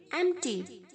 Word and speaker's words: empty: बहुत सारे बच्चे इसे एम्प्टी बोलते हैं। नहीं बच्चों, गलत प्रोनाउंस है, एम्प्टी नहीं बोलना है। इसको ओनली एम और टी के साथ प्रोनाउंस करना है आपको। एम for Mussoorie, T for Telangana, M T, that's it. नो ई, नो P, know why.